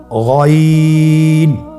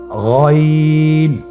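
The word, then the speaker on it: غين: উচ্চারণ করা যাবে না যেহেতু হরফটি মোটা এজন্য মোটা করে উচ্চারণ করতে হবে মাশল্লাহ আলহামদুলিল্লাহ আমরা আজকের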